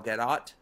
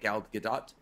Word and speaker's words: Gal Gadot: As an adult, when the Wonder Woman movie came out with Gal Gadot, is that how you say it? Gal Gadot? That's what Neve says, because she's Israeli. Yeah, he says Gadot.